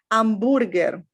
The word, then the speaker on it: hamburger: dizionario, esame, festa, gatto, hamburger, right? No H. Well, no sound for H.